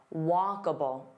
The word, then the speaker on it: walkable: And then the word that maybe you're not familiar with, walkable, walkable. So here there are 3 sounds, walkable. So notice that and then bull. It's not able, it's walkable, walkable.